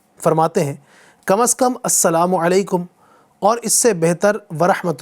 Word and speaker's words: السلام علیکم: میرے ساتھ ساتھ دہرائیے۔ سلام کا درست تلفظ ہے السلام علیکم، السلام علیکم، ٹھیک ہے۔ السلام علیکم کچھ لوگ پڑھتے ہیں، سلام علیکم بولتے ہیں، سلام علیکم بولتے ہیں، تو یہ سب غلط ہیں۔ السلام علیکم، السلام علیکم،